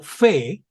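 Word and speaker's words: פ: alcance de la vista la letra p o fe suena como la p española cuando lleva un punto interior y suena como la f española cuando no lleva punto cuando está al final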